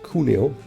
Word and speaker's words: Cuneo: And actually the pronunciation is Cuneo, I said it wrong the whole time, and we are already having 3 spider pre-orders.